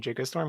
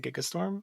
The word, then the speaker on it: Gigastorm: But I swear instead of saying Gigastorm, he said Gigastorm. So you know the hard G has been corrected.